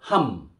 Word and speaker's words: 함: And you put another consonant, mium, then it'll go ham, ham, ham.